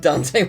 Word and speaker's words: Dante: the same way that I used to pronounce Baron dantey not Dante um and the reason for that is because they're called danis so I was like oh that he must be dantey um and I mean